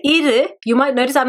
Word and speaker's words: இரு: Now when I say iru, you might notice I'm not saying iru. So whenever there is an u sound at the end in Tamil, normally it's pronounced as ir. It's like a middle sound.